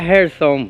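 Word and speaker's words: Jersón: gerson son oier son como se pronuncia en español sería gerson person sí que pasa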